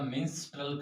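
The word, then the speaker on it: Mistral: तो नंबर 1 पे पढ़ते हैं हम मिस्ट्रल, मिस्ट्रल या मिंस्ट्रल कई बार कहीं से कहा जाता है, वैसे इसकी स्पेलिंग होती है MISTRL, मिस्ट्रल ही होता है, ठीक है।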